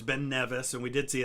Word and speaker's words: Ben Nevis: the first time yeah see we did see ben nevis which that was one of those things i had been pronouncing wrong i had always pronounced it ben nevis but it's been nevis and we did see it's the tallest uh